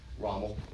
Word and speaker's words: Rommel: How do you pronounce his name? Rommel. I think it's R-O-M-M-E-L.